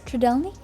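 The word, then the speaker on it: Trdelník: these, but this time I actually learned the pronunciation, which I think is Tridelny. Correct me if I'm wrong.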